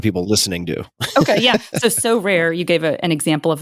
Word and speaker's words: Sorare: might be based in France, called Sorare or So Rare. I don't know how it's pronounced.